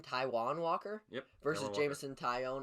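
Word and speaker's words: Taijuan: uh ty how do you say his name taiwan walker yep versus jameson taion i took ty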